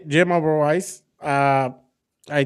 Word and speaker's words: Oberweis: Uh, it's Jim Oberwise. Uh, I pronounced that right, didn't I?